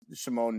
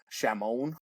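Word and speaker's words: Šimon: He's Slovakian, so his name is Shimon Nemec, but this guy at ESPN was calling him Shamon.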